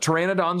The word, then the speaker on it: pteranodons: dinosaurs there right but pteranodons are fun because of the silent P right pterosaurs those are fun because the silent p is unusual PT is there any